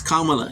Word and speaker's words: Kamala: Instead of challenging Mace to say Harris's name correctly, she refused, instead pronouncing Harris's name again as the other panelists shouted, Kamala, Kamala. It's Kamala.